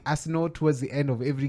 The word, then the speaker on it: Arsenal: Arsenal. Just go to say the team and then Laying emphasis on the first 3 letters.